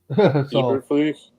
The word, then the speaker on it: Eberflus: Tim, you can pronounce that name. I can't. Eberflus.